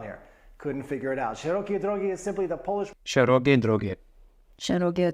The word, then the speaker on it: szerokiej drogi: Szerokiej Drogi is simply the Polish Szerokiej Drogi.